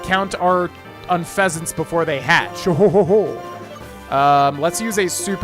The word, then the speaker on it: Unfezant: Unfezant, or Unfezant? Unfezant. Oh, I see why Wolfie says it now. It's spelled like Unfezant.